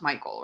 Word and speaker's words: Mychael: I'm just like filling the air now while it's pronounced Michael, right? It does his video thing. Yes, but Michael.